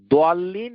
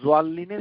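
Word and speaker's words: ضالين: তারপর ইবনে কাসির দোয়াল্লিন এবং জোয়াল্লিনের সমস্যাটা আলোচনা করেছেন, যে দোয়াল্লিনের উচ্চারণ কি দোয়া দিয়ে হবে নাকি না দোয়া দিয়ে হবে, জোয়াল্লিন হবে। তো তিনি এটা দুটোই আলোচনা করার পর তিনি বলেছেন যে উভয়টাই শুদ্ধ।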